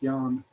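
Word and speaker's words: Jan: a version of that the dutch spell my first name with one a j-a-n and they still pronounced it yan in the people in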